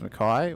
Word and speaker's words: Mackay: It was easier when I didn't know that Lorne Mackay's name was pronounced Mackay. I could just say McKee and I wouldn't get confused between them.